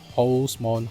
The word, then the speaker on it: Halsemon: There's the Japanese version of his name that's called Holsmon, which is based on Horus, which is the hawk-headed Egyptian god, so it's Egyptian origin.